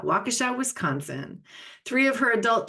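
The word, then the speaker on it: Waukesha: pronounce the city name how do you say that wakesha wakasa wakesha Wisconsin three of her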